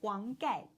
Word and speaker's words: Huang Gai: He's a Hung guy. not hunger, Huang Gai.